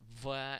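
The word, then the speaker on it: В: This letter, which is pronounced V as in Vera, looks just like the English letter B.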